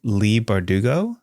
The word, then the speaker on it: Leigh Bardugo: a big difference though yeah how do you pronounce it is it Lee bardugo yes they've published so much material as you've